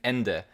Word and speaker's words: Ende: name of that place and ende is how i did it because i'm thinking of it as the german word for well for end yeah uh so i i guess or at least i pronounce it that way sure but yes yes